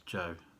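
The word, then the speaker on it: Sjoerd: say his name before i think it's joe de boer obviously it's got a scandinavian spelling s-j-o-e-r-d but i looked up the translation i'm sure it's joe but anyway if not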